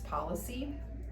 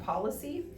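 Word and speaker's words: Pawlicy: then that company will pay us whatever is on your um insurance policy and then you just pay us the difference that your insurance company won't pay.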